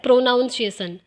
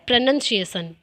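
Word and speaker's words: pronunciation: तो ये एक एग्जाम्पल है, कुछ टीचर्स बोल देते हैं प्रोनाउंसिएशन, जबकि राइट यानी कि जो करेक्ट उच्चारण है वो है प्रोनंसिएशन।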